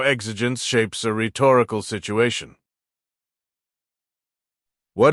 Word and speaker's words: exigence: That's exigence. Exigence.